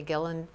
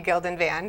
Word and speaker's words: Gilden-Van: My guest today is Gillen. I'm going to say it right. I had it right the first time. Do you want me to say Yeah, it? say it for me. I'm Gilden-Van. Thank you.